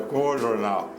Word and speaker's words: Coojornal: E o Jaguar escreveu uma nota fazendo autoelogio ao Cojornal e terminava dizendo: pena o nome, que muita gente pode pronunciá-lo de forma errada por causa dos dois Os, né? O Cojornal.